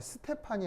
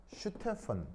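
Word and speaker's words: Stefan: 이때이 ST는 어떻게 발음해요? 어, 그래서이 S는이 독일어에서 스발음이 아니고 쉬바음이에요. 쉬 뒤에 T가 붙어 있을 경우 알겠죠? 그래서 이제 발음할 때 스테판이 아니고요. 슈 알겠죠? 슈테 슈테 볼츠만로 둘 다 독일입니다. 알겠죠? 독일계예요. 예. 슈슈 슈 아니고요. 스테픈 알겠죠? 스테프습니다. 독일어에서 이게 쉬발합니다.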